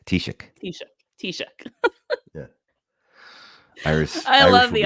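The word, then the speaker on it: Taoiseach: like okay you ready so T uhhuh Shock t-shock that is like to to spell it out there in h radioland it's t a o i s a c and say it again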